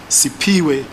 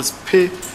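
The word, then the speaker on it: Siphiwe: A sixth witness called Sipiwe, or Spe, it's spelled S-I-P-H-W-E, could not compile any faces, but he mentioned that he saw an old green/blue sedan near the danger box.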